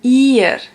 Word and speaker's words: ihr: And if it's an I and an H, also the same thing, you don't pronounce the H.